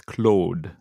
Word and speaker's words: Claude: a u d e if you want to pronounce it properly in the French language it's Cloe Au is more of an O than Jean oh Jim